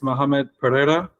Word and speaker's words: Muhammad Pereira: know you more uh this pronunciation pronunciation of my name is Muhammad Pereira so it's Portuguese grandfather's Portuguese I'm quite mixed um